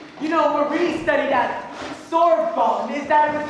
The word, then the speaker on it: Sorbonne: You know, Marie studied at Sorbonne. Is that what's pronounced, Marie?